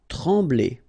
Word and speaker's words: trembler: Trembler. Okay, same thing here, nasal, EM, okay, en, trembler, okay, no pronunciation of the M, trembler.